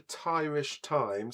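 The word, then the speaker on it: Thairish Times: Mark says, "Okay, so um, if you go to Tyrish Times, that's spelled T h ai as in Thai and then rish as in Irish.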